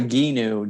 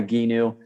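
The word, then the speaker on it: Gheenoe: love it oh yeah it's called a ginu g-h-e-e-n-o-e everyone mispronounces and butchers the name when you read it but it's called a ginu they make them here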